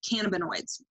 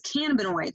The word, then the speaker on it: cannabinoids: It contains compounds, chemical compounds called cannabinoids. Did not know how to pronounce that word until convention, by the way.